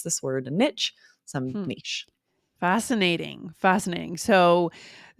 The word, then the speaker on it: niche: else calling the space in a wall a niche absolutely you can say that but on an